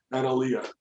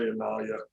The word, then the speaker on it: Annalea: Annalea. Nalia. Okay. Yeah. A lot of people say Analia.